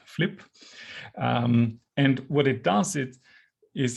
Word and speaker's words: FLIP1: Initially, I thought it was called Philipp, but sadly it's pronounced Flip.